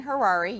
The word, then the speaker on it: Harary: We're joined with Dan Harary, yes, rhymes with Ferrari, joining us from Beverly Hills, California, talking about his new book, Carrots.